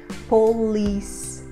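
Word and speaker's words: police: polícia nós falamos polícia polícia termina com a letra E então nós vamos terminar com o som da letra S nós não vamos pronunciar esse som da letra e nós colocamos a sílaba forte na sílaba com l e Polis muito cuidado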